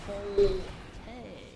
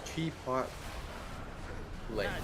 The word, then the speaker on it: Chipotle: So, no troll, the L is after the T. I thought it's chip. Polte. No, it's chip. Chi. It's Chipotle. Chipotle. Okay? Chipotle. Wow, I've been saying it wrong my whole life.